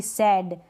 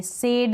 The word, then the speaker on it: sad: SAD सैड, ना कि सैड बोलेंगे, सेड नहीं बोलेंगे, हम बोलेंगे सैड। SAD सैड बोलेंगे, हम सेड नहीं बोलेंगे।